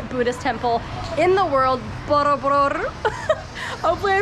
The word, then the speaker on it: Borobudur: temple in the world, Borobudur. Hopefully I pronounced that right. Our driver, Yos, was like, you gotta roll your R. So, I mean, I gave it my best shot.